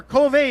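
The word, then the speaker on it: Kove: here 834 X and another Cove or coov is the correct pronunciation right Co yeah how do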